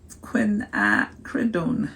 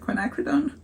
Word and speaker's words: quinacridone: say this I never say this right uh quinacridone that's it quinacridone magenta and I am going to put a